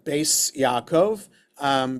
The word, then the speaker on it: Beis Yaakov: So you have to pronounce it Beis Yaakov because it's only in the ultra-Orthodox circles that you have schools for girls known as Beis Yaakov schools.